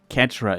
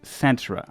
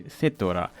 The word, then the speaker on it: Cetra: For reasons, I always pronounced it Catra in my youth. There was no voice over back in the day, and I never learned that it's pronounced Satra until I released this video in April 2020.